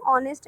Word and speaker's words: honest: As you can see, in the pronunciation of honest and R, H is silent.